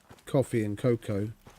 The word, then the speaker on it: cacao: At minimum, coffee and cocoa, or cacao, as it's correctly pronounced.